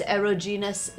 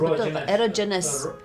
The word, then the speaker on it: erogenous: interesting you're sharing these aerogenous zones did i pronounce it erogenous erogenous erogenous zones um and this was